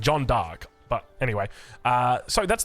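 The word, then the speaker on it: Jeanne d'Arc: pronouncing that correctly I believe it's actually pronounced John dark uh anyway like unironically I Googled it cuz people were like you're pronouncing it incorrectly I Googled it and it said John dark but anyway uh so that's the variant variant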